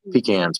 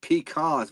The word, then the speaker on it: pecans: I'm gonna have pecans planted on. So, have a bunch of pecan trees. I love how you said pecans because people up north pronounce it peacons, which is completely wrong.